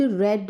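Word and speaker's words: read: हम रीड ही हैं लेकिन वर्ब की सेकंड फॉर्म रीड को हम रेड प्रोनाउंस करते हैं spelling R ई ए डी ही रहता है थर्ड फॉर्म को भी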